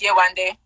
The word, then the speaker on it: Yewande: It's spelled Yewande. It's pronounced Youoneday, and it means mother has come back.